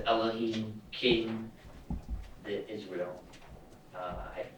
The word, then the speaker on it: Elohim: that so it says elam's king of Israel diplomatic if I may injection on Earth it's pronounced Elohim I'm sorry just for